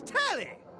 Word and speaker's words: Tally: The name's Tally. Rhymes with Nelly.